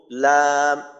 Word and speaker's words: লাম: উচ্চারণটা এমন হয় লা, লি, লু, এই ধরনের উচ্চারণ হয়।